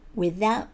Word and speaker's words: without: without you もしくは without you ですね。